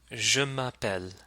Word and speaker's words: je m'appelle: both formally and informally so let's practice that je m'appelle je m'appelle as for me je m'appelle